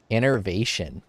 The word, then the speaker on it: innervation: Innervation. Innervation. Exactly how it's spelled and pronounced.